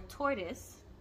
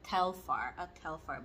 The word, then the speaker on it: Telfar: a Telfar or a tortoise. Oh my God, I said the name wrong. A Telfar bag.